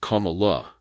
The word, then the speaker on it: Kamala: my name is pronounced Kamal la like the punctuation mark